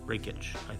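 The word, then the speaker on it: Rakić: at minus 102 and Alexander R Rockit or raikit raik raikit I believe it's pronounced at minus 118 which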